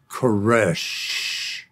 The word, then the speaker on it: Koresh: He said, it's like that last breath, the death knell. It's Koresh.